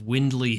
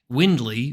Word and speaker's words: Wyndly: welcome Akash Shah one of the co-founders of windley health located here in New York to talk